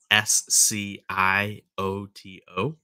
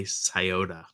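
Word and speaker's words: Scioto: river in Ohio called it's spelled s c o t o looks like scoto but we say scota River um oh Jennifer a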